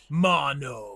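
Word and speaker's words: Maono: that we got from Mono. Mono, but it's spelled M A O N O. It's kind of weird, but um yeah, just let us know because I know that it sounds different.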